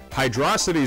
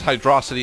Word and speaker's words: Hydrocity: many drowning hazards so you pronounce it as hydrocity instead of hydro city because i have this